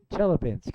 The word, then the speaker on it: Chelyabinsk: Chelyabinsk. It's Chelyabinsk. I guess they pronounce it that way.